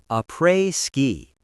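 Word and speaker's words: après-ski: Notice the pronunciation a prey ski.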